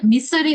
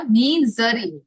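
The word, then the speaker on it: misery: এটার উচ্চারণটা মিসারি হবে না, মিজারি, মিজারি। তারপর বি the life and soul of the party.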